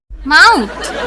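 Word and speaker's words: mouth: ও ইউ টি এ আরে শোনো পুরা ওয়ার্ডের উচ্চারণ মাউথ এক্সপ্রেশন কই এটা এমনে বলবা মাউথ মাউথ মাউথ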